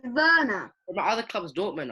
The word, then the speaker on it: Werner: what is that it's warner sweats one it's verna it's pronounced it's spelt werner but it said verna my other club is